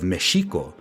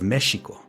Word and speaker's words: Mexico: So when the Spaniards first encountered the Meshika people of Meshiko, they called them Meshanos, the inhabitants of Mexico. This pronunciation mesho eventually changed to the one we are all familiar with today, Mexico.